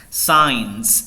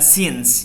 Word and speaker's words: science: yang kemungkinan mispronounce ya science science science science bisa bukan since ya banyak yang since saya masih dengar mispronounce itu since it's science netmarks tadi udah netmarks